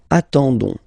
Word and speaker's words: attendons: Okay, you don't pronounce the s, so you get only this on sound. Okay, attendons, nous attendons, so we'll make the link between the two, la liaison.